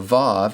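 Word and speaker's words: ו: Finally, with regard to the consonant that we call wow in modern Hebrew, it's called a vav and pronounced like the v in vine.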